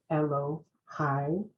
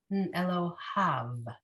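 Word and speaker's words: אֱלֹהָיו: Ashrei Shechacha Lo Ashrei Ha'am She'adonai Elohai. Elohav. Okay, so in this case, that yud is silent. It's there for changing the nature of the word.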